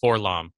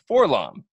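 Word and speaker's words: 4-LOM: Freddie and I, personally, as well as several other friends of ours, have pronounced his name as Forlom.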